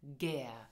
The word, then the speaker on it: gär: Pronounce it gern.